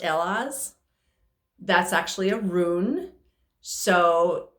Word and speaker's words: Elhaz: and this is um in this deck it's pronounced ella's that's actually a rune so in different parts